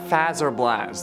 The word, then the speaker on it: Fazer Blast: others suggested about battle at fazer blast there are you happy I said it right for once but I like